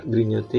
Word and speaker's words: grignoter: Grignoter, ini kata kerja, r-nya nggak dibunyikan.